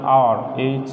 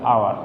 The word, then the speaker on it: hour: এ পাশে একটু খেয়াল করো কি আছে, ড্যাশ অনেস্ট HONEST অনেস্ট, তারপরে দিলাম আওয়ার HOUR আওয়ার। আচ্ছা, একটু খেয়াল করো, এখানে শব্দটা উচ্চারণ হচ্ছে হাউস, এখানে হচ্ছে হর্স, এখানে হচ্ছে হান্টার।